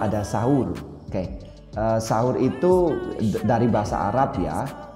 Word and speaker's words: sahur: Di Indonesia kita menyebutnya sahur, S-A-H-U-R. Di bahasa Inggris juga mereka menyebutnya sahur dengan ejaan yang beda ya, yaitu S-U-H-O-O-R, sahur. Oke, tapi tetap penyebutannya sahur.